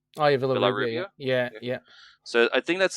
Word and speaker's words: Villarrubia: So Maberry Gugliotta and I don't know how to pronounce the other name, Villarrubia. Oh yeah, Villarrubia.